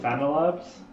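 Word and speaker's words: FanaLab: a n a labs it doesn't understand that it's pronounced phantylabs interesting the text to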